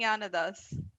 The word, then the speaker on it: Gnanadhas: na na nada haas nanathas is that right i'll go with that no now how do you say it uh it's and yana does yeah okay not not at us okay all right that's